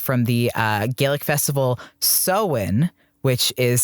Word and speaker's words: Samhain: halloween is derived from the uh gaelic festival sowen which is spelled s-a-m-h-a-i-i-n sam hein it is spelled samhain